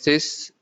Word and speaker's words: six: 6 is sis, 16 is says, 60 is soixante.